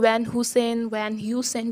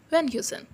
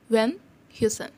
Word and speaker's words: Van Heusen: So, log isko Van Heusen bolte. No, it's Van Heusen. H is a little bit silent. Van Heusen. Okay? Van Heusen.